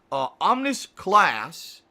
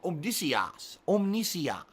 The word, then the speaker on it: Omnisias: Omnis Class has cheered. Hey, no, excuse me. I said that completely wrong. Omnisias is how you say his name.